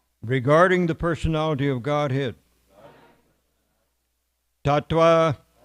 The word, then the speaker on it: tattva: the personality of Godhead, Tattva, or we can pronounce it as a V, I suppose, Tattva, knowledge, Vijnanam, scientific, Mukta, liberated, Sangasya, of the association, Jayate, becomes effective.